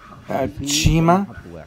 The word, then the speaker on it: Chima: Und dann kommen wir zum Chima. Chima wird auch, also wie T und Ch zusammen, also Chima.